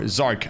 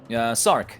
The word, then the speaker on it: Sarc: Rhetoric is also now on third position, so it is actually the victory for SARC, or Sarc, I think, just pronounce it like that, right? Sarc.